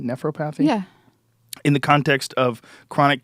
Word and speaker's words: nephropathy: on a pub Med site about ool oxalate nephropathy due to juicing and uh this patient with